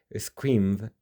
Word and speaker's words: screamed: So, screamed ends in a d sound.